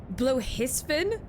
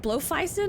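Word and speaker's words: Bloefhiswyn: Bluhisvin? Have I been mispronouncing her name this whole time? what did I fucking say before? It was wrong. It was definitely wrong. I think I called it like Blowfeisen or something.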